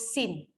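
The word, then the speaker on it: سين: Contoh macam huruf sin. Sin dibaca sa. Huruf shin dibaca sya. Dua huruf ni seringkali kadang-kadang tertukar. Okay, nak baca sin terbaca sya. Nak baca sya terbaca sin, sa.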